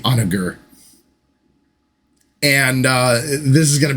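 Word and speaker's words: Honoghr: And then I tend to think it's Onager, but the American in me wants to say Onager. but I think it's probably Onager.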